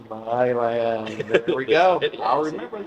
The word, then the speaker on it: Milan: This land is your land. Milan.